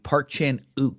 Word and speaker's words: Park Chan-wook: his his they're actually in English you don't pronounce the W in his name uh so it would be Park Chan o actually is how would